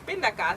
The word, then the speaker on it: pindakaas: Pindakaas. Pindakaas. Yeah. Pindakaas. Did I say it right? Pindakaas. Pindakaas.